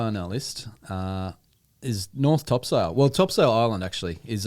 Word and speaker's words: Topsail: It sounds like Topsail, just like Craig has been pronouncing it. But actually, if you speak to a local, they're going to call it Topsail.